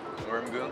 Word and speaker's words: Moorimgoong: In Korean, it's pronounced Moorimgoong. Oh wow. But a lot of like our American students just say like Moorimgoong.